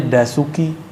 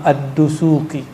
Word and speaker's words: Ad-Dusuki: Orang kita nyebutnya Dasuki. Itu mah orang Padang itu mah. Udasuki. Yang benar bacanya apa? Imam Ad-Dusuki.